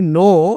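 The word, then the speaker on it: know: দেখো এই নো। এই ওয়ার্ডটা কিন্তু কে উচ্চারণ হয় না। এটা কি ওয়ার্ড? ইংলিশে এটা সাইলেন্ট কে বা সাইলেন্ট লেটার।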